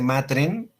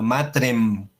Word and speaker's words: matrem: En latín, la M se pronuncia, no se dice matren, sino matrem. Acuérdense del confiteor de omnipotente,